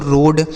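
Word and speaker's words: road: आगे आर ओ ए डी और आर ओ डी ई तो आर ओ ए डी इसे पढ़ा जाता है दोस्तों रोड और आर ओ ए डी इसको भी रोड पढ़ा जाता है।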